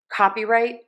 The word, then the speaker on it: copyright: So we are stressing cop copyright. Copyright copyright. And then our other syllables are getting less stress. Our secondary stress, the second most stressed syllable is going to be the right syllable.